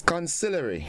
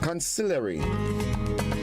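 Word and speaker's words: consigliere: there good morning c-o-n-s-i-g l-i-e-r-e how do you think we pronounce this word well it is conciliary concealery and a consonry refers to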